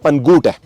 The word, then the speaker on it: Pangot: It just came to my mind, I am mispronouncing the name of this village. It is actually called Pangot. I have been calling it Pankote since yesterday.